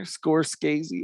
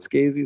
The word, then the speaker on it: Scorsese: How do you say that guy's last name? Scorsese. Scorsese? Is that how you say it? Pretty sure. There's not two cuz in there. Scorsese. That's not Skazy. It's just Martin Scorsese.